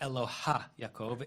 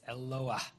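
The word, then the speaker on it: Eloah: It's not eloha. It's eloha where the he comes after the vowel, not before the vowel.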